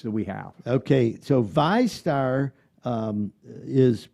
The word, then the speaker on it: VyStar: at the rates that we have okay so vistar um is pronounced v-y-s-t s-t-a-r vi star how did the